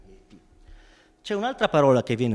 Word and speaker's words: yeti: Ora, il gioco linguistico qui è sulla pronuncia, perché la parola dread in tibetano si pronuncia je, e quindi ye, je, poi piano piano nei vari dialetti viene storpiata fino a diventare yeti.